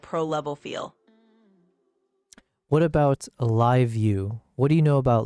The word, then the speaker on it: LiveU: What about live view? What do you know about live view? It's spelled LIVEU.